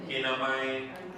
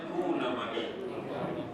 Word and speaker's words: kunamai: Yang ni kita baca kunamai. Siapa nak beri namakan dia? Ni jangan bacakan mai, kinamai. Hanya kunamai. Short form.